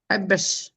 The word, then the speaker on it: حبش: Habesh. Voilà, tu prononces bien le ha maintenant.